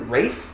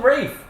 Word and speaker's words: Ralph: just it doesn't work name's ra is it Rafe it's SP Ralph it's not no yes there is there's not there's no there's an l no l and it's Ral you